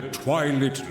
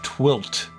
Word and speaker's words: twilit: Fare you well, wings of radiant light, illuminating the twilit land below. That's how you pronounce that word. I've been wondering about that since Twilight Princess. It makes sense. I just always thought it was Twilt.